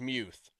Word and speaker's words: Muth: It actually is Muth, but he he really doesn't care. It's also easier for everybody to just say Muth.